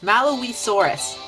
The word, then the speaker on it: Malawisaurus: I believe is pronounced Malawisaurus, which looks very nice and interesting.